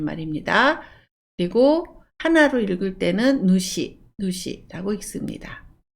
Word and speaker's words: 主: 그리고 하나로 읽을 때는 누시라고 읽습니다.